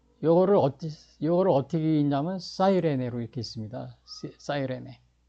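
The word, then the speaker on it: Cyrene: 어디 요거를 어떻게 있냐면 사이레네로 이렇게 있습니다. 사이레네 우리는 구레네로 이렇게 이제 C를 K로 해 가지고 구레네인데 실제로는 사이먼프 from롬 사이레네 이렇게 이런 식으로요. 그래서 이제 저도 미국에 가서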